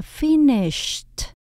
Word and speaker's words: finished: Ed chỗ này mình đọc là âm t, đọc là finished, finished.